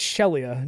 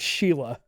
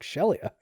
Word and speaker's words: Shelia: Yes, it's Shelia, not Sheila. And I kept on calling her Sheila because, but when you hear them say her name, you're like, Shelia.